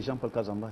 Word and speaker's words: Jean-Paul Kazamba: Je pense que j'ai bien prononcé votre nom. Oui, c'est Jean-Paul Kazamba.